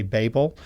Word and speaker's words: Babel: That's how a lot of Americans say it. I just want you to know, I understand in different places in the world they say Babel, and believe it or